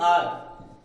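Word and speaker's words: hour: Sound आ जाए, जैसे आर, okay, आर में एच जो होता है हमारा साइलेंट होता है, इसलिए इसका क्या आता है? आर, तो आ ही साउंड आएगा, ये एच साइलेंट होगा, इसलिए यहां पर क्या बोलते हैं?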